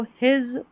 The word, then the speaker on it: his: हिज, इसको हिज पढ़ेंगे, हिस नहीं पढ़ना है, हिज।